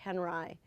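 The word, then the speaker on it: Henri: man Robert Henry it's it's spelled like on HRI like you know with an i but they say Henry he was a um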